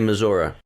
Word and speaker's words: Missouri: July 19th to 21st, the Ozark Music Festival is held in Sedalia, Missouri. Missouri. Never been there. Locals say Missouri.